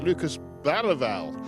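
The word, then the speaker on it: Lucas Bergvall: the man we call Lucas Bergville. And I'm very reliably told by local journalists that if you're going to pronounce it in the Swedish way, you pronounce it Lucas Bal.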